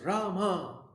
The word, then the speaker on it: Rama: Rama, pronounced Rama, is the incarnation of Vishnu as the prince of responsibility.